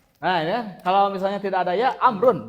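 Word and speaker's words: عمرو: du kata Amar Kalau misalnya tidak ada ya amrun bacanya makanya Amr IBN as Amr Bin as itu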